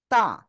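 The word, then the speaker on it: ت: শিখেছি সে অক্ষর হলো তা সে অক্ষর কি এটা তা কেমন উচ্চারণ হবে সবাই দেখেন আমার দিকে তা জিহ্বার আগা সামনের উপরে দুই দাঁতের গোড়ায় লাগান লাগান লাগান লাগিয়ে উচ্চারণ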